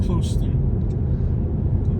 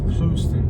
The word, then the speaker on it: Clewiston: Welcome to Clewiston, Florida. I'm Katie Rodriguez, and with me is my husband, Jose Rodriguez. Welcome to Southern Life. And it's pronounced Clewiston. Clewiston, dog.